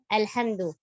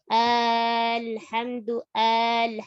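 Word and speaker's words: الحمد: Contoh kayak kalau kita baca alhamdu. Kita kan tidak membacanya sampai alhamdu. Ini berarti udah sampai 2 harokat.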